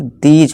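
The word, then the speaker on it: these: अब देखिए दीज, THES, दीज, इसे थीस नहीं दीज पढ़ेंगे, ठीक है दोस्तों।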